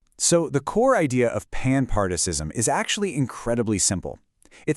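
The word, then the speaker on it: panpsychism: This is where we bring in a framework called panpartism, and that's pronounced pan-part-ism.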